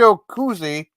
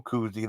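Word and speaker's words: Cozzi: That was Luigi Cuzzi, not Michael Cuzzi. That's Jack Star. It's spelled different too.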